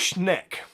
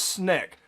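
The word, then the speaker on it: Schenck: about the government uh charles schneck uh that's how you pronounce it charles sneck uh he was against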